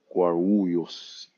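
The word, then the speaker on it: Guarulhos: Guyos. It's hard for me to pronounce. The Brazilians say guaros.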